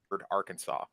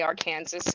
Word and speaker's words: Arkansas: gratification in in Arkansas it is illegal to mispronounce the word Arkansas oh try me are Kansas you guys they're giving